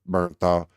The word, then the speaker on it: Bernthal: I know it's Barenthal, but Bernthal, and Robert Pattinson.